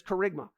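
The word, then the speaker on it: kerygma: Wrath to come now there's a Greek word that describes the proclamation of the Gospel it's carigma you may have heard this before but it's carigma it's spelled key r k key k e r y g m a carigma and in verse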